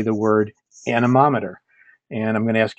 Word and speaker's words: anemometer: Usually when I do this in a public setting, I have everybody stop and say the word anemometer.